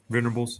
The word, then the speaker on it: Venables: Venables, yep.